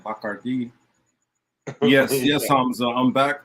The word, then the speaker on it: Bacardi: You know, look, again, this episode was sponsored by McCarty Pineapple. It's not what I say is, you know, it's not sponsored by me. Or if we're gonna say it right, Bacardi.